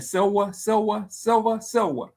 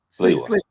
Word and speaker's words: Sliwa: I said his name Silva, the candidate for New York mayor from the Guardian Angels. How you say his name, Kenneth? Curtis Silva. Sliwa.